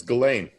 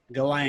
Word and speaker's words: Ghislaine: It's Ghislaine. Ghislaine. It's like one of those weird Irish names that has extra letters in it.